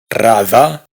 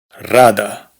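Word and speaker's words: рада: Esta otra no se pronuncia rada, sino rada. Esto, que es el nombre de un famoso lago, no se pronuncia Ladoga, sino Ladoga.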